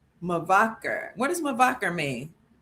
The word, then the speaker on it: Mevaker: Mavaker L. Mavaker.